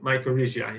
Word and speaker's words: mycorrhizae: So I believe mycorrhizae is the proper pronunciation, and it's a symbiotic relationship between fungi living in the soil and the trees, more precise, their roots.